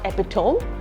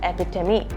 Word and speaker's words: epitome: Although it is written differently, you pronounce it as not epitome, you pronounce it as epitome.